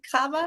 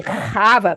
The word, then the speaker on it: Kaba: Am I saying that wrong? Cabba. Well, it's actually Kaba, but that's sort of hard to say.